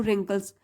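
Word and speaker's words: wrinkles: there were very few रिंकल्स W silent है रिंकल्स means चेहरे पर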